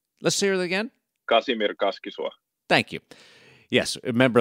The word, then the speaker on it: Kasimir Kaskisuo: Kasimir Kaskisuo.